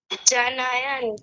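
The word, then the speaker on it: जनयन्: आगे देखिए आगे आगे संजनायन हर्षम सं जनयन जनयन जन न य न और न जो है वो हलंत है दूसरा वाला संजयन हर्षम ऐसा बोलिए संजयन जनयरम जनयन जनयन ऐसा बोलिए जनयन हां जी बहुत बढ़िया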